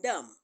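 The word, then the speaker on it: dumb: b in Lim is silent the b in Dum is silent the the uh B in subtle is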